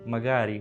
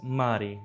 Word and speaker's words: magari: For example, magari, maybe. One of the people was pronouncing it as mari, dropping the second syllable.